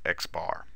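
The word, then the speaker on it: x̄: It is denoted by this symbol, which is pronounced x bar.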